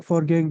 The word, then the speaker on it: foreign: lived in the for forgang Country uh no I haven't wait this is what for game the g is silent this is for Fore